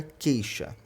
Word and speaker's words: queixa: é um dígrafo a queixa a mesma coisa a letra U presente aí não tem pronúncia fica queixa Olha o que ocorre